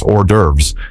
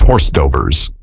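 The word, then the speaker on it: hors d'oeuvres: I heard him mispronounce ordurves as horsetodo.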